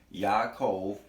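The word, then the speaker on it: Ya'akov: you see the name the connect pronunciation of the name is Yaakov and you see it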